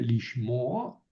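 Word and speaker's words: לשמוע: Eh, Aquí la pata furtiva nada más se pone para hacer fácil la pronunciación, ¿verdad? En vez de lishmoa, lishmoa.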